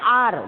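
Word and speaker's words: hour: ए लगा है, एन आर, देखिए आर बोलते हैं ना, हावर तो हम लोग नहीं बोलते, एच साइलेंट है, ओ से एन लगा है, एन ऑनर, एच साइलेंट है, ऑनर लगेगा, राइट।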